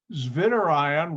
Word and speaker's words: zwitterion: get your phd so zvinder ion why am i pronouncing that v like a w because that's how germans pronounce the w or german language and